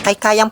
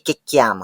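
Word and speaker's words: kikiam: mo na maggisa agad kay kayam po talaga ang pronunciation diyan guys ha hindi kikyam That's so Jologs and Badoy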